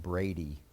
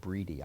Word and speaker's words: Brady: students in 2003 Barrett Brady actually he pronounces it breedy I only learned that since I left the dean ship everybody was calling it Brady but it's a breedy um the father Rick